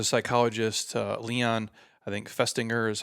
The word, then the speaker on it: Festinger: If you go back to like the 1950s, there was a psychologist, Leon, I think Festinger is how you say his name.